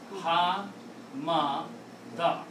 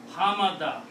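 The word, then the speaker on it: حَمَدَ: combine them together, and put a three fathas on one of each, this will be pronounced as Ha, Ma, Da. Ha, Ma, Da.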